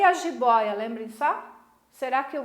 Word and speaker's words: jiboia: Onde é que está a sílaba tônica? No O. Ela é uma paroxítona.